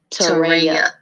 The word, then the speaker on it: Terea: Oh, it's pronounced Terea. You pronounced it right before.